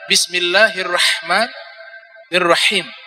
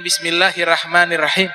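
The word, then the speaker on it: بسم الله الرحمن الرحيم: Maka cara bacanya itu adalah bismillahirrahmanirrahim. Ha. Bukan bismillahirrahmanirrahim, tidak. Bismillahirrahmanirrahim. Ada ha. Nah, itu namanya ha hirrif.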